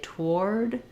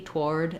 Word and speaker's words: toward: of shorter on the vowel if I say toward toward I either can say the D toward and you'll hear that there's a d there